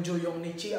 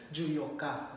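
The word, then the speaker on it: 十四日: Mali po yung Juyongnichi. Ang talagang bigkas po dyan is Juyokka.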